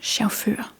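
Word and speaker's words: chauffør: and shauru.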